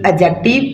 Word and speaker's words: adjective: सी टी आईवी ई एडजेक्टिव D silent हो जाएगा तो क्या पढ़ जाएगा एडजेक्टिव आ आर ई आर